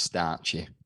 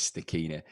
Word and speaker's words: Stachini: uh i've never heard the second day being pronounced starchy before um the correct pronunciation is stakina a lot of people say staccina or yeah if you're lee tomo arie starchy